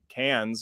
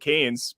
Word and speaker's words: Cannes: I don't know so much about it going to Cannes or whatever it's called. I always pronounced it Canes because I'm from Minnesota, so we always put harshness on our A's.